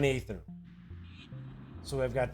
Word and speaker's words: aether: Normally that's pronounced ether, like floating through the aether, as opposed to, hey, I need to knock you out, so I'm going to make you breathe in this ether. So, hey, that's just me. I mean, I might be wrong, but I'm telling you, I would pronounce it aether.